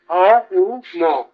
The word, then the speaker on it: ওম: আমরা করে বলে দিচ্ছি কিন্তু উচ্চারণ ওরকম নয় ওম অ উম এই তিন অক্ষর নিয়ে ওম শব্দের উৎপত্ত অ ম এই তিন অক্ষর নিয়ে অম এই উচ্চারণ এর ভিতরে সব আছে ততবস্তুর